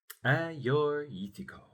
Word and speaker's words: Agiorgitiko: Ah-your-yeek-tee-koh.